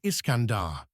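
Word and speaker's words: Iskandar: The name Kandahar is actually a corruption of Iscandar the Persian pronunciation of Alexander.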